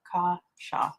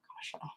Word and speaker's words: Kasha: Both syllables short and soft. Kasha. Oh, thank you for telling me. Kasha.